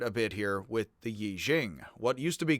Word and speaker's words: Yi Jing: up in the western world etc the the e ching is now read as yi jing and that is closer to how it is mispronounced by me so hey how'd that happen